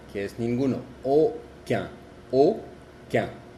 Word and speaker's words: aucun: La U y la N y la U y la M tienen la misma pronunciación que es un. Por ejemplo, un como un, uno, un. Lundi, que es lunes, lundi, lundi. Aucun, que es ninguno, aucun, aucun.